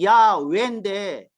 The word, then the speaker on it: 야훼: h는 묵음이야. 묵음. 묵음. 소리 안 내. 야 할 때 YAH. 그 h는 발음 안 하는 거야. 그런데 야훼인데 이 h하고 왜라고 표기하는 WEH를 합쳐가지고 회라고 읽었어. 난 순복음 교단에서 가장 먼저 시작해가지고 번졌는데 여러분들은 내 제자니까 발음을 제대로 해야 돼.